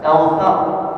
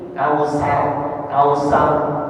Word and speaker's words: كوثر: Inna a'tainakal kautsar, huruf fa-nya jangan sampai dibaca sin. Kausar salah, yang betul kautsar, ujung lidahnya nempel ke gigi seri atas.